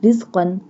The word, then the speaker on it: رزقا: Samarati rizqan lakum. Now you see that ra in samarat pronounced boldly, but ra in rizqan pronounced softly.